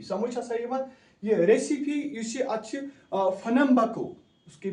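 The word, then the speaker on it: Pernambuco: उस नाव recipe RECIFE recipe समझ यह रेसिपी फनम्बको उसकी प्रोनाउंसिएशन है शाबाश यह फनम्बको ब्राजीलस बह कर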